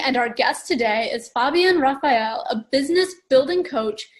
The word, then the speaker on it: Fabienne: So we should ask her now for the correct pronunciation. So funny. So yeah, Fabienne.